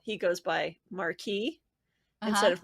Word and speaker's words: Marquis: how he goes by Marquee instead of Maris which is the English version he takes the French pronunciation yeah but he's every